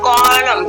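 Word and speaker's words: column: Next देते हैं सी ओ एल यू एम एन, देखिए एम पहले अगर एन से, तो एन आपका क्या साइलेंट है, और इसको हम किस तरह पढ़ते हैं, इसको कॉलम, ठीक है, कॉलम बोलेंगे। Next D ए एम एन,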